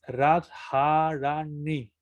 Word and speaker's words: Radharani: En este caso la vocal cambia en Radharani, sino que se dice ni. Entonces, Radharani.